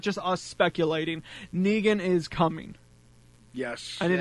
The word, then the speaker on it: Negan: I can't really be intimidated by a guy named Negan, like Megan. Yeah. Like Megan with an N, and it's like, no, it's Negan. Yeah, it's Negan. And finally, and I'll be